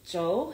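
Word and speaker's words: Zhou: h o u and you pronounce it Joe it's Chinese name but um you can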